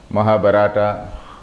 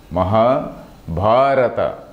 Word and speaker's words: Mahabharata: I have seen young students pronouncing it as Mahabharata. It should not be pronounced like that.